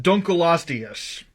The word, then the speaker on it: Dunkleosteus: level possible this is actually pronounced dunkleosteus the reason why i say this is because the name means dunkel's bone what's a dunkle you may ask that's because it was named after a paleontologist named david dunkle and no i'm not